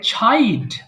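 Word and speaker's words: child: এরপরে ছাইল্ড, আমরা এতদিন চ বলতাম, এটাকে এখন থেকে ছ বলবেন।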